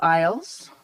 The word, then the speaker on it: Eyles: Eyles, am I pronouncing that correctly?